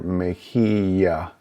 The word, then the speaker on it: mejilla: make what in English would be the Y sound. That's why you hear mejilla. Again, you'll see the J making an H sound. The I sounds like the I in ski. The E sounds like the E in wet. You've got a double L making the Y sound, and the A sounds like the A in father.